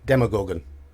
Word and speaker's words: Demogorgon: says here demo Gorgon demogorgon always been demogorgon demo as in demonstration different to demon don't know why because